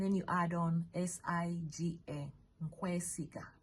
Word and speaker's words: nkwesiga: Nkwesiga. Nkwesiga is NKWE. Nkwe, and then you add on SIGA. Nkwesiga, like I trust you. Nkwesiga.